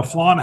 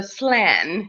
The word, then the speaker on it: flan: the perfect description except here in Canada of course we pronounce it a flan a flan a flan not a fla flan a flan I'm a